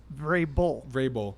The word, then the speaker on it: Vrabel: Vrabel.